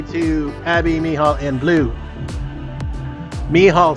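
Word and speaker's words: Mehall: grimm says hi to abby mihal and blue me hall spelled m m-e-h-a-l-l it is how it's pronounced thank you it is uh it's something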